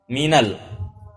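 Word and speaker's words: مِنَ الْ: dan juga dalam al-qur'an Min ketika nun sukun ya Min huruf Min ketika bertemu dengan alif lam itu bacanya nunnya di fathah Minal tidak Min Al dibaca Minal Baiti walaupun asalnya Min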